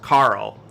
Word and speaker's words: Carol: or carl oleshak it's it's uh spelled like carol but it's a polish uh name it's pronounced carl um so carl olshack caught returned my